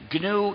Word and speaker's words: gnu: it's better than that GNU is the most humor charged word in the English language used in countless word plays because according to the dictionary the g is silent and is pronounced new so every time you